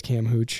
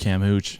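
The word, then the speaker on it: camhootch: work it's you just literally pronounce this as cam Hooch cam Hooch yeah c-a-m-h-o-o-t-c-h on Instagram he tends to do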